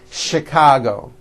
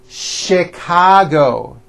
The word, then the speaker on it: Chicago: things even more difficult there are a couple of words that are spelled with ch and are also pronounced with the sh sound words like chef and the City of Chicago okay having said that